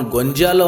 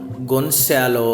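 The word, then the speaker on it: Gonzalo: ಇದನ್ನು ಓದಬೇಕಾದ್ರೆ ಡಾನ್ ಗೊಂಜಾಲೋ ಅಂತ ಓದಕ್ಕೆ ಹೋಗಬೇಡಿ, ಆ ಹೆಸರನ್ನು ಡಾನ್ ಗೊನ್ಸಾಲೋ ಅಂತ ನೀವು ಉಚ್ಚಾರ ಮಾಡಬೇಕು.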